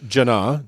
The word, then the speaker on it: Jannah: into it uh this this heaven is called jannah j-a-n-n-a-h can you spell that in arabic uh uh yes cody edit